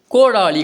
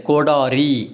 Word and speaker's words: கோடாரி: ரொம்ப ரொம்ப நம்ம சொல்லுவோம் அடுத்து கோடாளி கிடையாது கோடாரி அப்படிங்கிற மாதிரி வரணும் அடுத்து கடப்பாறை கிடையாது கடப்பாறை